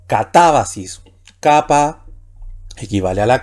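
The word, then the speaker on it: κατάβασις: Aquí tenemos la última sílaba, sis, va la penúltima y ta la antepenúltima, y también puede ir el acento agudo ahí. Así que la palabra aquí sería catábasis.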